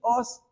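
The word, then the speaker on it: עֹז: nuestra fortaleza es una palabra hebrea que se pronuncia así os y la palabra puede significar fuerza poder o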